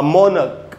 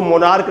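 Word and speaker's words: monarch: period during च अ मोनक मोनक का मतलब होता है राजा इसको मोनार्क नहीं पढ़ना चाहिए इसका उच्चारण है मोनक मोनक इज द ऑफिशल रूलर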